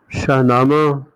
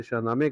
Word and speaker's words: شاہنامہ: خصوصیات نظر آتی ہیں۔ شاہنامہ یا شاہنامے فارسی تلفظ میں جسے شاہنامے کہا جاتا ہے، اس کا لفظی مطلب